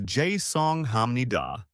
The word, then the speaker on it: 죄송합니다: The pronunciation is 죄송합니다.